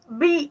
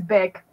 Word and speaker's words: Bic: It's like the pen brand. Beak. You know what I'm talking about? It's Bic. I was going to say, I'm pretty sure you pronounce it Bic.